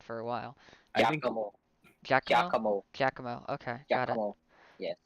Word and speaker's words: Giacomo: Mackenzie, I have been told that you are pronouncing Giacomo's name wrong. Yeah, you Oh, how do I pronounce it? Because that's how I've pronounced it for a while. Giacomo. Giacomo. Giacomo.